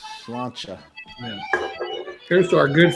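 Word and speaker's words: sláinte: I'm still pronouncing that. Salute. Salute. No, it's like Slancha.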